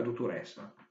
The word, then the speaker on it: dottorèssa: In milanese si dice la dottoressa, il dottor, la dottoressa. Sentite, quella E aperta è perché vuole l'accento.